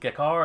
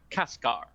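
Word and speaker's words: Kaçkar: I'm going to pronounce it Kekar, and I am sure I'm saying that C wrong because there's a squiggle mark.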